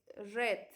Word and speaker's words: read: es leer en pasado se escribe igual si nos dimos cuenta es igual pero se pronuncia diferente que es red como el color eso es lo que